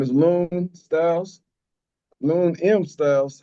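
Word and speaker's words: Lune M Styles: Lon M Styles, how you spell it? Uh the M is basically silent. So L U N E M Styles.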